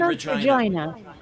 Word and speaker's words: Regina: snickering Regina Regina yep Regina it is actually Regina they pronounce it Regina huh okay wouldn't think it